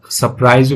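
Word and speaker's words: surprise: देख रही थी वो सरप्राइज या सरप्राइज भी पढ़ते हैं आर जो उसको साइलेंट कर देते हैं आश्चर्य होता है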